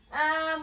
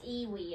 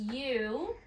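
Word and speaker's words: ewe: so it's not raining yet okay okay so um we've got two more questions match the words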